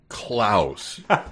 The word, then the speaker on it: Clouse: mouse and klouse is not even like klouse kinsky it is c l o u s so it's just I called that out clouse so it's spelled the same as house yes uh by the